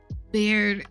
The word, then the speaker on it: beard: Is it like beer or like bear? Hold on. Google, explain to me how to pronounce. Beard. Beard. Okay, like beer.